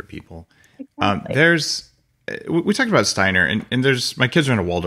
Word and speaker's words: Steiner: And here's the deal that Steiner, a lot of people don't know about, or Steiner, if you pronounce it properly.